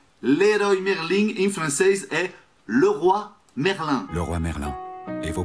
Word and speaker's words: Leroy Merlin: Leroy Merlin.